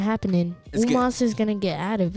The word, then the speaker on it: Omos: Oh, Omos.